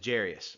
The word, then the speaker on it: Jairus: As I was reading it, I pronounced his name Jairus, but you might know it as Jairus. I don't know exactly why. It looks like it should be pronounced Jairus, but I've always heard it as Jairus. So if you call him Jairus, if you call him Jairus, I don't think that's too much of an issue.